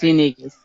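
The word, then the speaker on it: Yñiguez: It's Yaniguez. Yeah. Yaniguez? Okay. Just like it's spelled.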